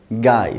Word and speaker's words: guy: En fait, ce mot, c'est le mot guy. Donc ça s'écrit G-U-Y.